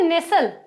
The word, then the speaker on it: nestle: और भी एक है नेसल, NESTLE, इसको नेसल पढ़ा जाता है।